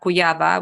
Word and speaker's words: Kujawa: have a Facebook page Dr cuyaba which spells k-u-j-a-w-a I know it's I'm